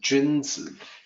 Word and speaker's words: 君子: me do that again if you assume that Ju in sounds like the month of June the June in month of June or the named June and then Z you may say June Z which is close to gins so the actual pronunciation